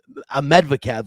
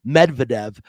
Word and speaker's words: Medvedev: daniel um a medic ahmedvikav let me see let me get that that straight say his name properly it's medvedev but he was the